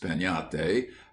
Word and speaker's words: piñata: But everywhere, children would be talking about breaking a piñate, pronounced peñate, as you talk of having a tree.